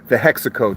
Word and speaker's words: HEXACO: Oh, it's the Hexaco test. It's it's spelled Hexaco like Texaco with an H.